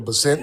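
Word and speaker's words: Bessent: And Scott uh Bessett or Basset, however you pronounce his name.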